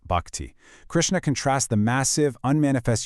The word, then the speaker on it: bhakti: This is the core of bhakti, pronounced bhakti.